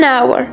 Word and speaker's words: hour: À titre d'exemple, on ne dit pas a hour, mais on dit an hour, car le mot hour commence par un H muet, alors on entend juste le son OU au début.